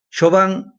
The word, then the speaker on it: Chauvin: Y coincidencialmente el día de hoy, 20 de abril, lo acaban de sentenciar a Derek Chauvin, como se escribe en francés, se pronuncia en francés. Chauvin, el policía que lo mató a George Floyd.